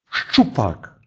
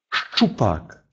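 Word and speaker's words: szczupak: «ц», «з» и произносится твердо «ш», «щ», «щ», «щит», «щит», «вершина горы», «щупак», «щупак», «щука», «щипце», «щипце», «щипцы». После этого твердого согласного никогда не может идти звук «и». Всегда произносится твердо.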